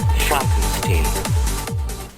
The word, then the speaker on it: Frankenstein: My name, it's pronounced Frankenstein.